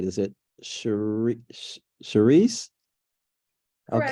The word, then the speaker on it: Cherise: I'm going to make sure I'm pronouncing this right. Is it Charisse?